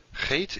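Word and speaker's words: Het: what distinguishes the two hate is the sound or something like the sound in bach or in law is that german or scottish sound hate after hate we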